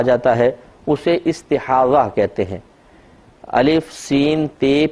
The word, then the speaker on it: استحاضہ: تو ضا ہے، ضاد جس کو کہتے ہیں ضاد اور ہا، استحاضہ، اور اردو میں استحاضہ کہہ دیتے ہیں زے کے ساتھ، تو یعنی ہے ضاد ہی لیکن اردو میں ہم زے کے ساتھ تلفظ کرتے ہیں استحاضہ۔ استحاضہ کا مطلب ہی